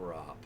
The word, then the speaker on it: grop: Yeah, a grop.